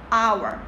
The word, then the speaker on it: hour: hour. 자, H가 묵음이지. 소리가 안 나는 소리야. 그럼 hour이네.